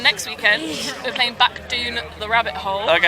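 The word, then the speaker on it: Doune: We're playing Back Dune the Rabbit Hole. Okay. And it's said It's spelt like that.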